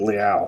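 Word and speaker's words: Leal: at layout to 99 I thought it was Leo but then the uh during the NFL draft they pronounced it Liao so I haven't pronounced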